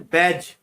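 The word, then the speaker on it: badge: Seventh में बैज, इसमें D silent रहता है।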